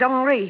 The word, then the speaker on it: Henri: He pronounces it Henri.